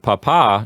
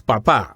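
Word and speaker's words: papá: correct syllable yes now with the word papa if you put it on the wrong syllable it actually changes it into a different word right yes if we say in the correct way of saying it is Papa but if we say the accent on the first syllable you would say Papa Papa means potato in Latin America so we don't want to we don't want anyone to accidentally call their dad potato yes that's right and then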